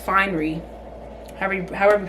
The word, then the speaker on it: Fine'ry: like irking me um I keep saying Refinery it's just finery however however you pronounce